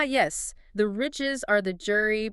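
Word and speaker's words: gyri: The ridges are the jury pronounced JY Ry Jri.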